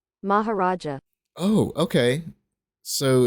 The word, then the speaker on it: Maharaja: Chicken Mahora Mac? I'm gonna look up what that is real quick. Hold on. Chicken Mahora Mac? I feel like I'm totally like not pronouncing that correctly. Maharaja.